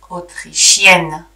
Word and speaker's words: autrichienne: And here also the pronunciation changes. Autrichien, autrichienne.